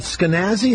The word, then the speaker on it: Skenazy: Hey, Lenore, is it Skenazy? How do you say your name? Rhymes with crazy.